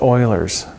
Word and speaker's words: Euler's: now if you haven't had enough in terms of formulas I have another one for you it's called Euler's formula I know it looks like it's Euler's it's pronounced eulers it's one of those things that